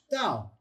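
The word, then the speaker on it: ת: It's pronounced as a tet. Interestingly enough, go back to, you also have the tet. The tet and the tau, identical pronunciations if the tau has the dot. Without the Bagat Kafat, without that Dagesh Lene dot, then it's pronounced th, them, there. It's got that th sound to it.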